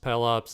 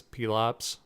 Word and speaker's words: Pelops: except on my show I pronounced Pelops his name as Pele ops all the everytime I